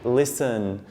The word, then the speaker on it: listen: from somebody else to listen listen the T you don't pronounce that another group which has